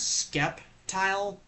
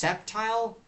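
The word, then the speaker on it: Sceptile: And then there is Septile, which I originally pronounced it as Skeptile, but then realizing it's not Skeptile, it's pronounced Septile.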